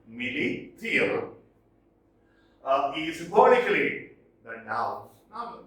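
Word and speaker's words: Milly Theale: And here, Millie Thiel, proper nouns can be pronounced differently, but we have to approximate to their pronunciation. So it is Millie Thiel.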